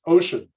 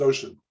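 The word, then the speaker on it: Wouxun: Here's the whole panoply of, well, so how do you pronounce this word? W-O-U-X-O-N? It's ocean. It's ocean.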